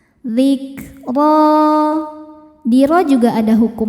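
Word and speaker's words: ذكرى: Huruf ro dibaca tafkhim karena barisnya fathah. Cara bacanya ditebalkan. Zikro.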